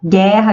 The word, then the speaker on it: guerra: O fonema GU, onde o U não é pronunciado, então temos um dígrafo consonantal, guerra, guilhotina e guia, não pronunciamos a letra U.